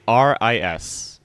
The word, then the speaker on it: Eris: Aris. Oh, okay. It's like Paris without the P.